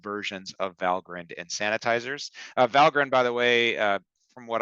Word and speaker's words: Valgrind: So it's kind of got this Viking Norse pronunciation, Valgrind. You could be forgiven for calling it Valgrind, but I personally have been corrected by those in the know.